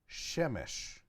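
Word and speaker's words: שמש: word for son so he in Hebrew you will pronounce Samson Shem shown and you pronounce son shemesh okay now you don't have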